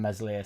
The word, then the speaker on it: Meslier: observation I'm not comparing meslier silent s to Hitler either I'm